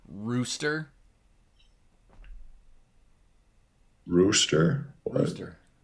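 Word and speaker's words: Roest: like how how you how do you pronounce that if you're a Dutch person right like all right roast keep Roost Roost I need to correct myself Roost staying under the 295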